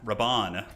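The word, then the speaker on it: Rabban: um character other than Robin Rabon Rabon yes that's how you say his name I always mangle that one all right so the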